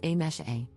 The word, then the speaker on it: Amise: For context, my name is written as Amise, but is pronounced as A-mesh-A. So my name consists of just 3 sounds and is completely pronounceable